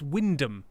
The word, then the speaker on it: Wymondham: Just ignore the central third of the word, because why wouldn't you?